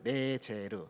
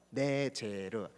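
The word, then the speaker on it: נֵצֶר: 여기 보면은 그 뿌리에서 한 가지가 나서라는 표현에서 이 가지라는 단어가 바로 히브리 음으로 표현하면 네제르입니다. 네제르. 뭐라고요? 네제르.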